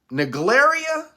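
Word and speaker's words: Naegleria: from a splash pad was viable for NE naria it's spelled n a e g l e r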